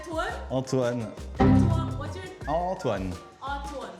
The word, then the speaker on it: Antoine: Antoine? Yes, good. Antoine. That's a good pronunciation.